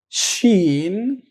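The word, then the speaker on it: شين: will say it's okay the letter sheen sheen is equally the same to sh in english so it is shin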